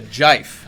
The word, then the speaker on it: GIF: I mean, and I'll also say, so there was a GIF, if you will allow me to pronounce it thus. It's a jife, as I recall.